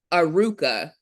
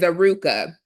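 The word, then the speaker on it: ארוכה: And it means Aruka. It's spelled Aruchah. Again, 7:37 in the Hebrew Concordance, which is all biblical, is Aruka.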